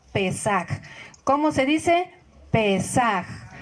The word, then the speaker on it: Pesaj: La palabra la Pascua viene del hebreo Pesaj, P-E-S-A-J, Pesaj.